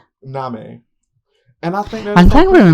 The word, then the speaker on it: Nahme: Yes, it's spelled like name, but with an H. Nami.